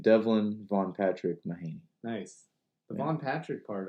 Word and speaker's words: Mahanay: Mahanay. Mahanay. Interesting. This whole time, I've been saying it Mahanay. Mahanay. Yeah, it's normal. I'm used to it at this point. Yeah, full name Devlyn Von Patrick Mahanay.